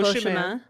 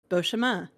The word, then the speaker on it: Beauchemin: Beauchemin. You did. There's no N. It's fucking French. There's no N, Chris. I will fight you today, D. I'm telling you, there's no N in French. It's Beauchemin.